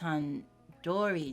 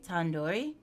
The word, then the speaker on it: tandoori: you at least recognized Han Dory chicken you're saying it wrong wait really Tandoori duri the do isn't like indoor it's like do do head are you five years